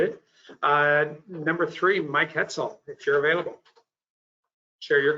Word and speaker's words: Hetzel: e dot last name is hetzel rhymes with pretzel so